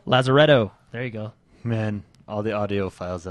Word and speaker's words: Lazaretto: love and fun Jack White I can't even pronounce that L res L resido I don't even know Lazar Jack White's goingon to be in the game Lazaretto Lazaretto there you go man all the audio files